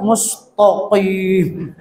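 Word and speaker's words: الْمُسْتَقِيمَ: Kemudian yang ketiga, mentafhimkan ta dalam kalimat al-mustaqim. Jadi dibacanya, jadi ada sedikit ya perbedaan, misal ihdinas siratal mustaqim. Jadi tokim. Jadi itu nama paling pasih gitu ya. Jadi mustaqim dibaca mustaqim. Jadi ta ditafhimkan, padahal dibacanya mustaqim. Ta biasa ta.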